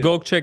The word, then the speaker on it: Gokce: Is it Gokce Capital? How do you? Gokce Capital. Yeah. Gokce, It's like Gokce, Dolce.